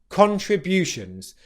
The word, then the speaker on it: contributions: Particularly, I want to make you aware of bu, the B consonant followed by the Y consonant. Bu, followed by a weak, unstressed syllable, shuns, butions, contributions. The secondary stress in this word is on the first syllable con, so you get pension contributions.